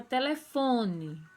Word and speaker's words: telefone: Na palavra telefone, fo é a sílaba tônica, é a mais forte.